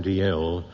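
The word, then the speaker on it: Dalziel: The West Lothian question was one put by Tam D.L., whose name is spelled D-A-L-Z-I-E, and then the third letter again.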